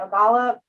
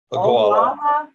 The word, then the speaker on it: Ogallala: This is boarding pupils at Ogallala. I'm not saying it right. Ogallala.